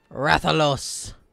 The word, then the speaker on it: Rathalos: Rathalos, northeast camp.